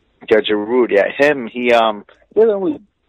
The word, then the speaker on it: Giroud: Giroud, how you pronounce it? Giroud. Yeah, Giroud.